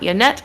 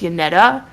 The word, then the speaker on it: Yannetta: Her name's not Yannette, it's Yannetta. I'm silly. I've replaced the A with an E for some reason in my dumb baby brain.